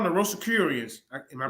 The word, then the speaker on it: Rosicrucians: So the roster, what you call them, the Rosicrucians? Am I pronouncing it right? Yeah. Rosicrucians.